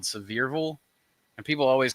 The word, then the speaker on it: Sevierville: It's Sevierville, not Sevierville, but people always say Sevierville.